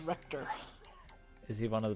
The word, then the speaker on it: Richter: So is Richter one of the Belmonts, I take it? It's pronounced Richter.